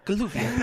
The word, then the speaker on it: Galuvia: I think we're going to Galuvia? Is that how you pronounce it? Yes, that is how you pronounce it. You would know that as a character. Yeah. That's Galuvia.